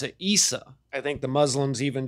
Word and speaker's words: Isa: And by most accounts, they pretty much just pronounce it Isa.